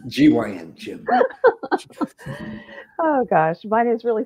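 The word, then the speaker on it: Gyn: It's G-Y-N, Jim.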